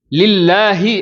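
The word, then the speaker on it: لله: அதுல அல்ஹம்து அப்படின்னு சொல்லும்போது இருக்கக்கூடிய ஹாவுக்கும் லில்லாஹி அப்படின்னு சொல்லக்கூடிய இருக்கக்கூடிய அந்த ஹாவுக்கும் வித்தியாசம் இருக்குது. ரெண்டுமே தமிழ்ல எழுதி பார்த்தா ஹான்னா தான் எழுதுவோம். ஆனா அரபு மொழியில உச்சரிக்கும் பொழுது ஹம்துன்னு சொல்லி அந்த ஹாவினுடைய உச்சரிப்பு வேற லில்லாஹி அப்படின்னு சொல்லும்போது இந்த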